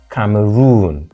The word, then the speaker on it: Cameroon: syllable bana second syllable Cameroon third syllable kivir third syllable therefore